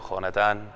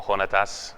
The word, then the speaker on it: Jonatán: Así se pronuncia en español, Jonatán, muy bien. O Jonatas, okay, según el latín, creo.